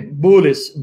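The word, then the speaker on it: بولس: how many of you guys like my Arabic pronunciation of Paul's name and my Arabic imitation opposed nay Buddhist Buddhist because Paul and Arabic is Buddhist bul u.s.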